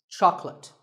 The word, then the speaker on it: chocolate: this at the store make sure that there are only two syllables Chuck and let chocolate and remember there is no late in chocolate speaking of chocolate how